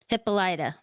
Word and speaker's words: Hippolyta: Hippolyta. That's how they Hippolyta. say her name.